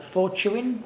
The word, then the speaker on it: Fortuin: It's going to be Petula Fortuin, pronounce that one?